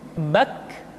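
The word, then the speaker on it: ك: Selanjutnya huruf K diucapkan dengan mengangkat pangkal lidah kita ke posisi di depan huruf Qaf. K diucapkan dengan mengalirkan nafas kita. K. Ki, ku, bak.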